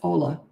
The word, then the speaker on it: hola: it's hola from California isn't that pronounced differently did I say that right Ola it's not hola it's Ola Spanish right am I right